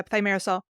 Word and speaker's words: thimerosal: Thimerosal? Is that how you pronounce it? Yeah, thimerosal, which is the use of mercury as a preservative within vaccines.